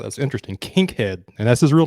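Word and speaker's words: Kinkead: uh haziq Daniels I believe is how you pronounce his name out of Air Force yeah you've got Kink head Dent uh which is just a fascinating name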